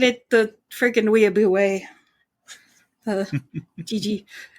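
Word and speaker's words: Jiji: How did you spell that? J-I-J-I. Gigi.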